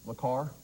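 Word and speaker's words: Le Carré: Le Carre. Le Carre, yeah, that is correct. Le Carre is the correct pronunciation.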